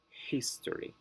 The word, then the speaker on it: history: syllable elderly manager passively rule number two words that end in a consonant or and why the stress goes on the first syllable as well history rarity optimal gradient words